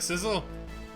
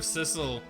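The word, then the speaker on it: Cissel: I feel like, okay, so I have the pronunciation of Sissel. Megan has the pronunciation of Cecil. And you have the pronunciation of Sizzle. I'm not saying any of them are right. Right? I'm just more used to Sissel, so I'm probably just gonna keep saying Sissel.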